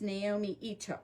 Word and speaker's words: Naomi Ito: I had the name wrong. It's Naomi Ito.